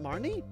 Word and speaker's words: Marnie: you hello Marnie Martin is that are you pronounce that you pronounce it Marnie aha may have always